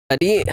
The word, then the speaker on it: Aadit: Aadit, what you got going on? You got fights? Did I say it right? Yes, sir, yes, Aadit?